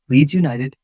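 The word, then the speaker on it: Leeds United: Keep other syllables light. 10. Leads United.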